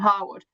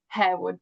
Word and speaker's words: Harewood: So, we decided to go for Herwood because obviously that's how it's um, spelled.